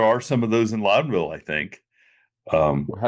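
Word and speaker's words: Loudonville: Now, there are some of those in Lowdenville, I think. Um, how do you pronounce that? Loudville. Loud. Lowdenville. It's Loudenville. Like Louden County.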